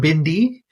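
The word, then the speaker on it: भिंडी: yeah uh bendy or Bindi is the pronunciation that's the uh what we say is Hindi word for uh for okra next time you're bleeding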